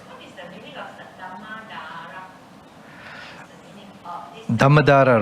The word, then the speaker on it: Saddhammadhara: Not Dharmadhara, I'm sorry, Saddhammadhara.